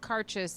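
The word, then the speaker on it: Càirdeas: the a has an accent but it's it's pronounced carchest and we learned that because we went to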